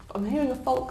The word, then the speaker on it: folk: music and other country folk somewhere there's no I'm not doing the L is not there it's not the end but it's folk oh very good and